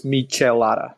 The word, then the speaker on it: Michelada: But the original name and kind of the way it's pronounced in Mexico, it's Michelada. But we hear obviously in the States, everybody calling it like Michelada and, other cheladas.